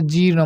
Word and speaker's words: জীর্ণ: জিন শব্দের অর্থ হচ্ছে হজম, জীর্ণ, এখানে উচ্চারণটা হবে জীর্ণ, মনে রাখবে।